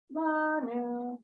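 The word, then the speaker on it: לנו: The Vitsonenu, Uvi Karenu, Neve, He Karadonai, Lanu. Good, and you got the lanu, the accent on the la, because that's where the little vertical line, the metcheke.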